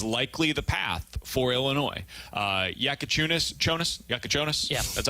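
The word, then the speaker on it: Jakučionis: Yakachonis? Yeah. That's how I pronounce it.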